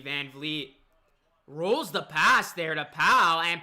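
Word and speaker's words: Van Vleet: hachimura he uh he misses the three here's vanvlee van vliet rolls the pass there to pal and powell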